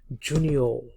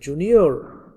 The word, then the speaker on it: junior: British ইংলিশে আর শেষে থাকলে সেটা উচ্চারণ হয় না, জুনিয়র।